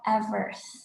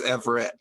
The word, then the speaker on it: Everth: Next up, we have Everth. Please correct me if I pronounced your name wrong. Hi, it's Everett. I'd spelled a little funky.